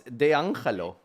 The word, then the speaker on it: D'Angelo: Do you think why is he pronouncing it so incorrectly? It's D'Angelo.